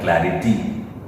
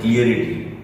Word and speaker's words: clarity: क्लियर से word आता है क्लैरिटी, तो हम लोग क्या बोलते हैं क्लियरिटी। पिक्चर क्लियरिटी सही है, क्लियरिटी कोई वर्ड ही नहीं है।